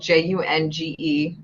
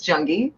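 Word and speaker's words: Junge: name Rhode interesting because my last name is spelled j-u-n-g-e nobody ever does the e at the end I get Jung junji sometimes janji but it's junkie so interesting um but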